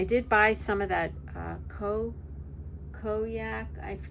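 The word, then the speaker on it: konjac: And I did buy some of that koyak. I don't know how to pronounce it. It's Kojac.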